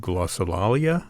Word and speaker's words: glossolalia: uh the other part is a piece called glossolalia is that how you say it that's correct